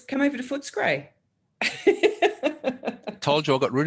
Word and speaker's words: Footscray: I think the pronunciation of Footscray is Footscray, not Footscray.